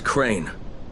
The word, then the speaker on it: Crane: no my name is crane crane crane rhymes with train and brain and sane and grain and rain and plane and the other kind